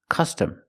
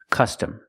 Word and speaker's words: custom: Use the short sound like cup and up.